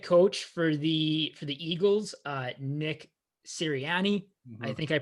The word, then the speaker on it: Sirianni: Like the new head coach for the Eagles, Nick Sirianni, I think I pronounced it correct.